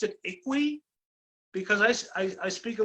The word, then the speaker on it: IKOUII: uh with uh i hear people pronouncing it iq i pronounce it equi because i i speak a little bit of